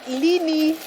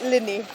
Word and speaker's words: Lini: It's Lini, not Linny.